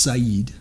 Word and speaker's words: Sidon: it is a phoenician word sidon it's it's pronounced saeed in in their actual language in their language